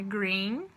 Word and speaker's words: green: por exemplo green né quando tem duas letras vezes em inglês fica com som de ir então é green o rosto né purple